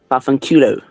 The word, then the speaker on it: vaffanculo: Fafanculo.